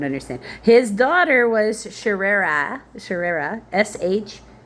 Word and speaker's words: Sheerah: His daughter was Shererah, Sheerah, almost like Shira. I'm going to say it like that way. Shira. That's how that reminds me. Like as if you're like really enthusiastic and you're holding on to the middle vowel.